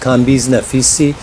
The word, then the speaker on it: Kambiz Naficy: To begin with, my name is pronounced Kambiz Naficy.